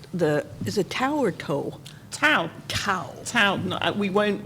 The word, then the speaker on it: Tow: TOW. TOW. TOW, no, we won't remove your car. and we rhyme with cow, which is, in fact, we used to have TOW cow, which has gone missing, but anyway.